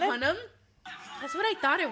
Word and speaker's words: Hunnam: Oh, it's Hunnam.